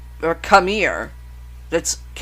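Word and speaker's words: Khmer: was populated by Hindu native people the the hamir or kamir that's KH h m e r i don't think I butchered it but if I did one shot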